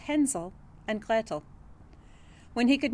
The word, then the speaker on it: Hänsel: If you're an English speaker, you're probably thinking that that's Hansel and Gretel, but I wanted to use the original German pronunciation just so you can hear it.